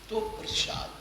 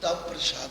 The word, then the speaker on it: ਤ੍ਵਪ੍ਰਸਾਦਿ: ध्यान दो, चाचरी छंद छंद का नाम है तो प्रसाद, इनू तब प्रसाद नहीं कहना। ये पैर में अद्धा बबा है तो ये उच्चारण का नियम यो ही विद्वाना ने तय